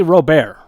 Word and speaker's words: Robert: Is it Luis Robert or is it Robert? How do you say his name? It's actually Robert. It's Robert. Correct? I guess he's part French.